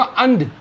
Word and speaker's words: and: में इसको बोलना पड़ेगा अंड और इसको ई को क्या बोलना ए तो इसको बोलना पड़ेगा एंड तो ध्यान दीजिए इन दोनों को सेम प्रोन मत करिएगा यह अंड है और यह एंड है इसके अलावा एक चीज